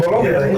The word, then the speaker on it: Bologna: Bologna. How is it pronounced? Bologna. Bologna. GN in Italian is gnà.